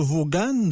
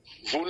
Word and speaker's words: Vaughan: Vaughan, ça s'écrit Vaughan, mais dans leur culture, eux, ils appellent ça Vaughan.